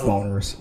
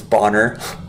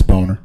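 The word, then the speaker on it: Boehner: They're going to boner. It's It's funny how people like like how that last name's not actually said like that. It's actually said pronounced as Bonner.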